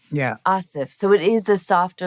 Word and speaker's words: Aasif: look how it's spelled tell me how to pronounce your name it's asif asif yeah asif so it is the softer like anna yeah that's right and people always go asif i've heard asaph we already have commonality you